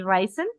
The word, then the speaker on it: Reisen: Estoy como Reisen, que es en alemán, se escribe Reisen.